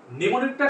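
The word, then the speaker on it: mnemonic: তারপর হচ্ছে নিউমোনিক, নিউমোনিকটা শিখবো হচ্ছে কি অ্যামনিমোনিক, অ্যামনিমোনিক, অ্যামনিমোনিক। এখানে এমটা কিন্তু প্রথম উচ্চারণ আমরা যখন বলি নিউমোনিক তখন কিন্তু উচ্চারিত হচ্ছে না।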